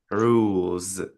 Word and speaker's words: rules: Es here is pronounced as z.